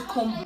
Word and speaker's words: comb: okay i want to comb my hair comb this word is commonly pronounced comb but the right to pronounce this word is com com the b in this word is silent i want to have